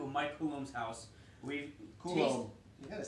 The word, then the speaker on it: Coulombe: We've Coulombe.